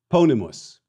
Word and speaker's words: ponimus: We place, ponimus. Let us place, ponamus. Hey, did you notice the shift in the stress accent from the antepenult, third to the last syllable, to the penult, the second to the last syllable?